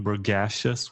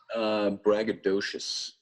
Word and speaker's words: braggadocious: court, he started being braggacious once again. Braggacious. How do you pronounce that well? Braggadocious. Braggadocious.